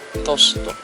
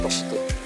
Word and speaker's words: toast: like mm tosto tosto mozzarella tosto tosto it's pronounced toast toast maybe toast the bread toast